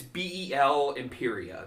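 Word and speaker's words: Bel-Imperia: uh Belle Imperia uh I have to see the uh is it's beel Imperia is is her name but she is the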